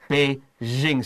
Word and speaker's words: Beijing: It sounds like sh, sh, sh. 然后你加那个 J 的发音 like z. And that's the Beijing sound.